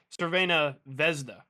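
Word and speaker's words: Crvena zvezda: Belgrade finally sanus vesda no you don't pronounce the Z oh in the second name so it's Sera vesda nice well fun fact as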